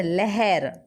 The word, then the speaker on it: लहर: अभी देखो यहाँ पे लहर है, लहर ल, लेकिन प्रोनाउंसिएशन ल नहीं करना, लहर, लहर।